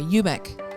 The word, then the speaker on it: Umek: Sorry, Umek.